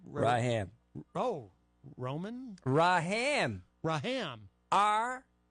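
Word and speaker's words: Rahman: It's spelled Raham, but it's actually pronounced Raham. So Well, the first M is silent.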